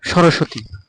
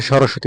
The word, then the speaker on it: সরস্বতী: করতে হবে লক্মী যেমন সরস্বতী আমরা বাংলা ভাষায় সরস্বতী উচ্চারণ করি কিন্তু সংস্কৃত ভাষায় হবে সরস্বতি সর নিচে একটা যে ব আছে ওটা ওয়া উচ্চারণ করতে হবে সরস সয়াতি স্বামীকে সয়ামি